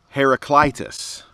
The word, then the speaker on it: Heraclitus: the ancient Greek philosopher Heraclitus Herrick let me say that right the ancient Greek philosopher Heraclitus that sounds better right Heraclitus he's ancient he's